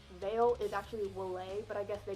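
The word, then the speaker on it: Vale: took a lot and the way that you pronounce veil is actually will a but I guess they call it veil or the colsole I don't know that's my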